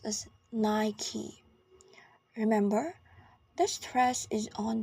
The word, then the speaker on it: Nike: Nike and both American in British English it's pronounced as Nike remember this dress is on the first syllable